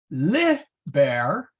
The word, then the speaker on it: liber: Liber with a short I means book.